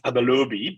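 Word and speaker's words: Abalobi: Tell us a bit about the story of Abelobi, and feel free to correct me if I'm mispronouncing Abelobi. Yeah, it's Abelobi, but same.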